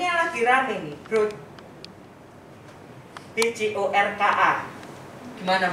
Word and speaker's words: Bjorka: BJORKA. Gimana bacanya?